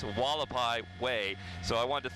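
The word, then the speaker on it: Hualapai: you trained me, is how to pronounce this street, Wallapai Way. I think I was calling it Hawalapai, which is kind of a natural mistake a lot of folks make when they come to the Las Vegas Valley, and then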